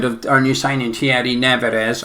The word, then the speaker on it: Nevers: Speaking of clips, there's a clip going around of our new signing Thierry Nevers. I think it's Never. It's spelt Never with an S. Nevers. Must just be pronounced that right.